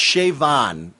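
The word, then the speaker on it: Siobhan: with the pronunciation but the b and the h together makes a v sound in the gaelic pronunciation so um i figured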